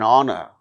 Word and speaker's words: honor: For instance words beginning with a silent H in the words hour, an honor, an honest man, an heir, an honorable man.